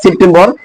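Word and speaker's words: September: এই সেপ্টেম সেপ্টেম্বর এখানে আছে না সেপ্টেম্বর এটাকে বলতে হবে সেপ্টেম্বরটা ঠর মত উচ্চারণ হবে।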